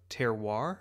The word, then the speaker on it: terroir: And he's on a farm and he's with this wheat farmer who is talking about terroir.